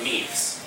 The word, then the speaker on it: meme: In English it isn't pronounced meme, it isn't pronounced, there actually is a French word named meme, but it's intended to rhyme with the word gene.